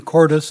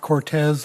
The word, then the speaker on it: Cordes: Thank you, and thank you for the correct pronunciation, Cordes, not Cortez, like I've heard a lot of people call it.